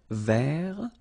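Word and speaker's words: vert: remember rou ver so masculine form don't pronounce the final T ver feminine form ver so listen carefully I don't say t but it's t ver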